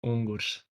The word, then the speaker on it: Ungurs: Because I'm going with Ungus. I think, Mito, you're putting a bit more emphasis on the Ungus. What's the best way for us to pronounce it going forward? So in Latvian, it's Ungurs.